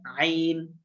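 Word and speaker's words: عين: বলেন না ভাইয়া আইন আইন আইন গলার ভিতর থেকে আইন আইন আইন আইন আইন আরেকটা কফ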